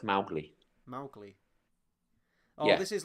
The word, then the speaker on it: Mowgli: Should be pronounced Mowgli. Mowgli. Oh, Yeah. this is like Smaug or Smorg, Schmaug. Yeah, it's like yeah. So the original should have been pronounced Mowgli, whereas Disney pronounced it Mowgli.